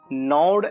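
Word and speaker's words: gnawed: इट was evident that the unresolved coral still नॉड एट him. Students, यहाँ पर जी silent रहेगा।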